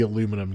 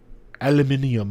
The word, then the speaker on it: aluminium: I'm sorry, it's so specific to me, but Like I think at this point, like, cause I have the aluminum case on mine. Say it correctly. Aluminium.